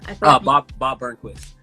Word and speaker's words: Bob Burnquist: Bob Burnquist.